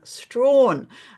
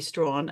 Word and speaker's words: Strachan: So we had a chat with the delightful Tina Strachan, Yes. not Strachan, but she'd been calling me Strawn, and I said, yeah, no, that will be Strachan.